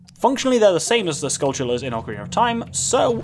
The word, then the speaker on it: Skulltula: I've changed my pronunciation I always used to say skull taller they're worse now I say skull sure someone pointed out completely correct me correct me correctly to me that skull chiller is based on the